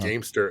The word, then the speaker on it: Gamester: That's what kind of, and kind of rhymes with gangster, I guess, a little bit too.